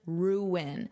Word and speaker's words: ruin: Repeat after me for pronunciation, ruin. So, notice there's two syllables, ruin, ruin, and then you have your ing, ruining, ruining.